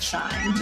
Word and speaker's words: SHEIN: Welcome to the world of SHEIN! "Yes, like I don't think it's SHEIN. 'SHE-IN' is how I tend to pronounce it."